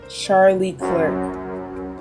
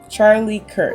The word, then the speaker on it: Charlie Kirk: One I think was Charlie Clerk. Kirk. Charlie Kirk. I said his name wrong. I don't know what I said, but I know it was wrong.